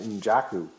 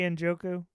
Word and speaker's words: Njoku: I never heard it pronounced injaku. Yeah, andujoku. That's not an A. That's an O. You say Injaku. I say Injoku.